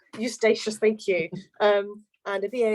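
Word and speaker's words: Eustatius: You have to pronounce that for me, Colleen. It's Eustachius. Eustachius, thank you.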